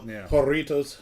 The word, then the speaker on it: Jarritos: jaros I think it's haritos oh it's 100% not the way I say it horitos yeah the Double R rolls uh J is not a hard J sound at the beginning but you know it's